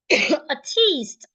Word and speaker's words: artiste: And this word is pronounced artiste. Artiste. There is a difference between this word and this word. They do not mean the same thing and they aren't pronounced the same way.